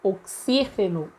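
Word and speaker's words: oxígeno: é a sílaba tônica mas em espanhol nós pronunciamos oxiteno oxiteno então o se seria a sílaba tônica da palavra no espanhol como as sílabas tônicas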